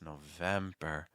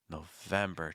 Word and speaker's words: November: November November really quick how do you say m M hold that M sound if you find that you're doing M that's a sign that you're shifting your placement really high and that can cause your word to sound pretty tense and also blocks some error but it's November November trying to keep everything low December December you can